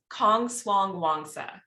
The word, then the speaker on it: Kongswangwongsa: say your last name it's really not that bad it's kong suang wangsa so i married into that name and it's thai in thai and origin oh wow okay wonderful